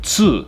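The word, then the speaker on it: つ: sound right here is very specifically tsu not to so it's tsu like in tsunami so if you've heard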